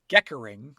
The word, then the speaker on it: gekkering: Foxes will also make other noises like whines or a throaty rattling sound called geckering. That's spelled Gekkering.